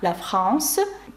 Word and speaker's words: la France: «Тур де Франс», як і називають її в нас – до речі, слово «Франція», «країна», «la France» пишеться з літерою «е» наприкінці, але, ви знаєте, «е» ніколи не вимовляється.